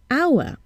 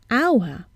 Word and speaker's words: hour: For example, hour. We see an H, but we hear a vowel sound at the beginning, hour, and not hour.